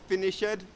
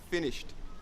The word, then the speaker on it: finished: this lesson okay so not finish ad not finished finished with the soft T and finally after Chuck